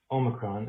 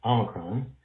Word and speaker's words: omicron: variant should be pronounced omicron and not omicron not defending the president's pronunciation but you should know that in ancient greek there are two vowels there's a short o and a long o and omicron which is